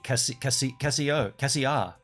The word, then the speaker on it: Cassia: It's literally spelt like Casio, but the last letter is an A. Cassia.